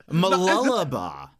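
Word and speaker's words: Mooloolaba: Is that how mulaba? Mulaba. Mul m what? Mulaba. What you said? Mulaba. Yes. Mulaba. Is it m or moo? It's it's like muish. We never pronounce the double O.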